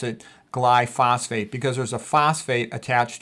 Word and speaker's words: glyphosate: And you can pronounce it glyphosate. That's actually the proper way to pronounce it. I like to pronounce it glyphosphate because there's a phosphate attached to a glycine.